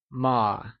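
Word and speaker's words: 吗: As a question particle, ma is pronounced using a neutral tone, which carries a soft falling sound, as if the sound is fading away. Can you try and say ma?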